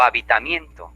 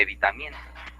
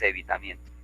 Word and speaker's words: evitamiento: O habitamiento en vez de evitamiento. ¿Por dónde vives? Ah, vivo por la vía de habitamiento. Y lo correcto es evitamiento.